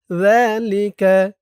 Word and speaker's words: ذلك: ذلك أن لم يكن ربك مهلك القرى ذلك ذا ذا একালিফ টান খারা জবর আর জালের উচ্চারণটা নরম হবে। জিহ্বার মাথা উপরের দাঁতের মাথার সাথে লাগবে জালের উচ্চারণ করার সময়। ذلك ذلك ذلك আল্লাম হামজা